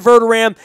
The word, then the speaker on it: Verderame: of our first conversation it is spelled ve R de r AME but I keep saying vertol Ram like a st. Louis Rams Ram he is Matt verda Ram and you could find